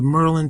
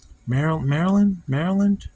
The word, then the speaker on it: Maryland: But yeah, I bought this figure back at the Merlin Toy Expo in June. I said Merlin. Maryland? I'm from Maryland, but I've never pronounced it as Merlin like that before.